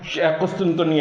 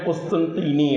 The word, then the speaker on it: قسطنطینیہ: پھر فرمایا کہ وہ قسطنطنیہ ہے۔ ہم اردو میں قسطنطنیہ کہتے ہیں، اس کا صحیح تلفظ عربی میں قسطنطینیہ ہے، اصل میں قسطنطینیہ تھا، ہم اس کو قسطنطنیہ بولتے ہیں۔ تو وہ جو شہر